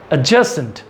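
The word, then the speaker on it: adjacent: एडजेसेंट, जे ज़्यादा आएगा, डी कम आएगा।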